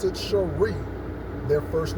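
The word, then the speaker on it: Shri: that way it's a middle name and they pronounce it Sheree their first name is molinda last name Simmons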